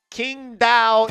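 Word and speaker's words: Qingdao: the big at a Kingdom Eagles. That's how you say it. Not the Wong Dong Tigers.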